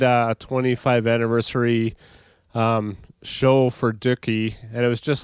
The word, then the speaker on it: Dookie: So it's spelled like cookie, so.